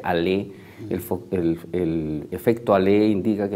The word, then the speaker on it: Allais: si mal no recuerdo, que se escribe Allais, pero se pronuncia Allais.